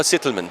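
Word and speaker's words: Zitelmann: it's dr raynor zeidelman how do you say it in german um you say doctor doctor reinhardt settlement rhino settlement oh you're you're well i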